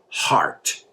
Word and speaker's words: heart: And another thing, a lot of my students mispronounce the word heart. They say heart, they say everything but heart. Right? And I always tell people, remember the word art.